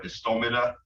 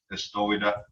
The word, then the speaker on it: istomida: So let me emphasize on the M there for istomida. Like I said, the M gets flipped upside down and it's pronounced like a W a lot. Istowida.